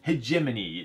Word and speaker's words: Hegemony: But this is just recently fulfilling off Kickstarter now, and it is Hegemony. Lead your class to victory, and I know that's the pronunciation because I've heard a voicemail from the designer say so.